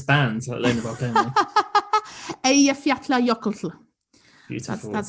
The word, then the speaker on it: Eyjafjallajökull: But yeah, it's very confusing because there's two double L's in the name. And I learnt double L in Iceland is like LT. It's like lt.